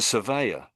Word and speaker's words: surveyor: So, sir at the front. Sir. The next bit I would say is they so s sur like a survey.